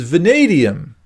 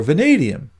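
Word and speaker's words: vanadium: next element which is vadium which by the way rhymes with stadium so it's a good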